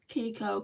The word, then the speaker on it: Kiko: good I hope you have a good time Kiko Kiko Cosmetics it's spelled k i KO um and then Cosmetics